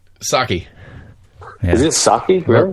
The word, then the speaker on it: Psaki: Saki. Yeah. Is it Saki? Really? Rice wine, bitches. That's it. It starts with a P, but I believe it's pronounced Saki.